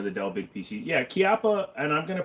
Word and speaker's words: Chiappa: It's pronounced with the CH, not a K on the Chiappa.